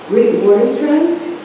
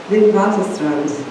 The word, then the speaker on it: Witwatersrand: She received her BA from the University of Witwatersrand. I'm saying it wrong. Say it again? Witwatersrand in Johannesburg, South Africa.